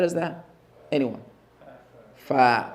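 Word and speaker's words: ف: So the name of the letter is fa, stretched. But when a fatha lands on it, it is just fa.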